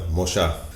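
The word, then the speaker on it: Mollá: his name is Jose Molla. Did I get your name right? Yeah, it's actually Molla, because he has an accent in the A, and the L's are always pronounced like sh.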